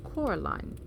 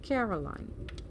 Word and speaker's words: Coraline: They got your name wrong, you know. They kept saying Coraline, not Caroline. Not Caroline at all."